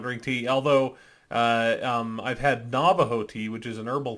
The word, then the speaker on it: Navajo: Although I've had Navajo tea, which is an herbal tea, and it's about as terrible as you can imagine.